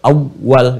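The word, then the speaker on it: أوّل: Makanya kita bacanya dengan menekankan double, awal, gitu kan?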